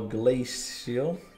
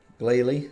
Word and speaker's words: Glalie: decent I think there should be one more glaze Shield glace seal I don't know how to pronounce them Glalie that's it and I don't want to exchange